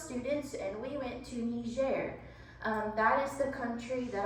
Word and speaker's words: Niger: trip with those students and we went to Niger that is the country that I live in now it's spelled n-i-g-e-r in English it's pronounced Niger but in French it's pronounced Niger French is